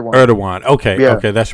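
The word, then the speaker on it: Erdoğan: Erdogan, I'm sorry I said Ergodon. Erdogan. Yeah. I'm sorry. Sorry about that. It's it's written Ergodon, but it's it's pronounced Erdogan. Erdogan.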